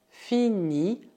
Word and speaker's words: finit: Isso dá je finis, cuidado, o S final é mudo, tu finis, il finit, aqui também o T final é mudo, nous finissons, vous finissez, elles finissent.